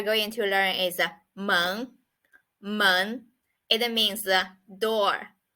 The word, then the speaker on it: 门: word we are going to learn is a monk mon it means the door so it's quite